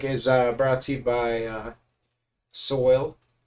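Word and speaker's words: Soyal: The music during my break is brought to you by Soil. Soil spelled like royal.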